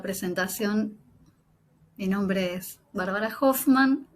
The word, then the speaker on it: Hofman: La presentación, mi nombre es Bárbara Hoffman. Hoffman, depende de quién sí, depende de quién lo pronuncie, porque en mi familia se pronuncia sin la H aspirada, pero bueno, nunca me